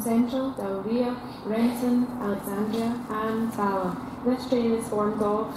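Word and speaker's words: Balloch: Okay, it's pronounced Balach, and it's in 4:01. Got about a minute and a half then. So Balach.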